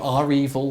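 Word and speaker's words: REvil: klopp by you know are evil or evil if you want to pronounce it that way depending on your pronunciation of it that data exfiltration and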